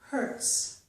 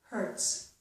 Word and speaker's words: hertz: However, if the letter Z follows the letter T in a word, so we have T plus the letter Z, we usually get the S sound, as in the words pretzel and hurts. So the Z's here are not making a Z, they are making a S.